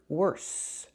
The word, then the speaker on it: worse: So the S sound, we make that with our tongue back, inside our mouth. Our teeth are closed. Worse.